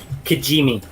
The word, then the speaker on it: Kijimi: Kijimi. Yes, it is. right. Not an easy one to spell, but you nailed the pronunciation.